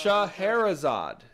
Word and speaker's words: Scheherazade: She pronounce Scheherazade is how my mother is saying it's pronounced.